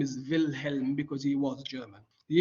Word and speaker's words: Wilhelm: matter both are okay wilhelm is the german spelling he was german so wilhelm is the german pronunciation but if you say william that's fine too i'm